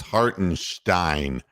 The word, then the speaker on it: Hartenstein: No, it's Hartenstein. That's the way they like to pronounce it. The Germans.